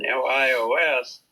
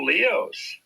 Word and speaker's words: LIOS: Leadership Institute of Spokane, LIOS, which most people would have pronounced Lios, I think. He said, "Oh, Leos."